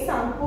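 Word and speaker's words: Tsangpo: बोलते time T जो है वो यहाँ पर साइलेंट है, इसलिए इसे क्या बोलेंगे? सांगपो बोलेंगे।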